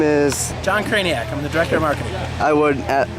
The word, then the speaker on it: Krajnak: the director of marketing I would I would say your name but I don't know how to pronounce It's Tricky it is it doesn't look like craniac at all that's it so so